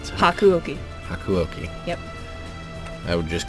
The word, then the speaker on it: Hakuouki: You're gonna have to help me pronounce that. It's Hakuouki.